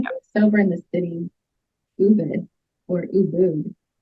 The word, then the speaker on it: Ubud: is it Ubud or Ubud? So I think the official pronunciation is Ubud, but a lot of people call it Ubud, like I call it Ubud. So either or.